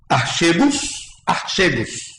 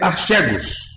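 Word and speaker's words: ἀρχηγός: Uma pronúncia que poderíamos falar seria archegos.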